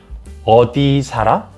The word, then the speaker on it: 어디 살아: Notice how it's 어디 살아. So 살 here is pronounced differently when you say it. 어디, it sounds like 살아. 어디 살아. So the real 받침, the final consonant in 살, real here, it fills in the next word here, 아, like this.